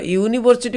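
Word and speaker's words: university: देख यूनिवर्सिटी गोटे भावेल्स रे आरंभ होईची यूनिवर्सिटी नहीं कि किंतु तार जो उच्चारण होची यू तार उच्चारण यू ई यू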